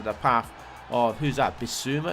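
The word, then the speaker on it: Bissouma: path or who's that be suma is how you pronounce his name for sulla and he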